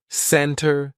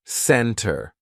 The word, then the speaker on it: center: Usually, if the T comes after an N, we drop that T and we do not pronounce it. Center, center. No, it's not center. It's almost like we're spelling it C-E-N-N-E-R. Center. I'll meet you in the center of town, not center.